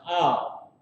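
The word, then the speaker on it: אל: The ah and the la are connected, so it's pronounced al.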